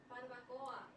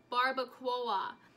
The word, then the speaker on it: barbacoa: Barbacoa, how do you pronounce it? Barbacoa.